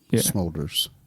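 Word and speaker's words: Smulders: know so Kobe smolder smolders like shoulders but with the m yeah so good for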